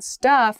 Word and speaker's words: stuff: so stuff uncountable noun stuff has a u sound St uh again that sort of thinking uh uh sound stuff staff has that wide